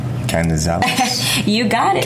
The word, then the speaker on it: Canizales: Again, we are with, and I almost butchered your last name. Canizales. You got it. Canizales.